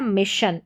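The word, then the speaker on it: mission: जन ना कि विज़न और यह है मिशन। इसमें शन पढ़ा जा रहा है एस आई ओ एन को।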